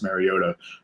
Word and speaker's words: Mariota: There's a goat somewhere in the middle of Marcus his name. Mariota. Yes, that's correct.